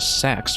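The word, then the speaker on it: SA-X: Now, here's a look at the I don't know if people pronounce it directly as the Sax or just this SAX because it's just Samus infected by the X.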